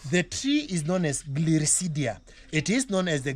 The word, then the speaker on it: Gliricidia: So somebody can just Google as I'm pronouncing it, Yes. Gliricidia.